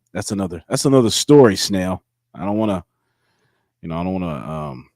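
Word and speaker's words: Snell: is that right now right it is snail yeah but I will I'll I'll take any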